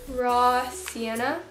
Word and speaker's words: Raw Sienna: I'm going to use raw Sienna that's how you say it it's not crazy every time I dip